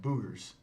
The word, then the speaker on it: buggers: In the South, they called little kids who are often getting into mischief buggers, pronounced Boogers, and my dad shortened it to Boo.